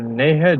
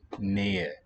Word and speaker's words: Nähe: You'll never have the H pronounced. The H is only really heard at the onset of a stressed syllable. So either a glide ya or just drop.